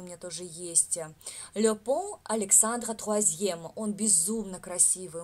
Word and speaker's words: pont: Le pont Александра Третьего. Повторяем. Le pont Александра Третьего. Le pont Александра Третьего. Le pont. У меня тут «Т» написано, правда. «Le pont», «Т» не читается, да, где зелененький у меня транскрипция.